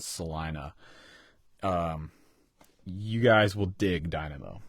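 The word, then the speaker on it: Celina: record is called Salina it looks like it's spelled Salina it's CEO I and a but it's called Salina you guys will dig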